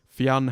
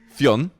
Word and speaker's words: Fionn: Aussie stadium announcers, Caribbean commentators, and the whole shebang in between have been saying his name as 2 syllables, and I'd love to hear one person just say Fionn properly.